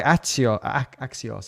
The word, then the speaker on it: Axios: Yeah, having not used this library before, I would have done like, let's try Axios, that's how you pronounce it, because then I'm just using the GitHub API without anything fancy on top.